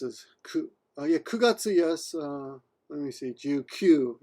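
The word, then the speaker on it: 九月: And yeah, again, 9 can be pronounced as ku or q.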